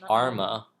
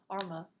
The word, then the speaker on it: Arma: Oh, it's pronounced Arma. Arma.